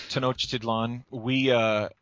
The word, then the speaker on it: Tenochtitlan: know how to pronounce this in English, but Tenochtitlan. I don't know how you say it in English. Yeah, well, I pronounce it, and we usually pronounce it here, Tenochtitlan, which was Tenochtitlan.